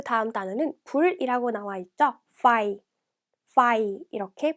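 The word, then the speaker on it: ไฟ: fire 이렇게 발음합니다.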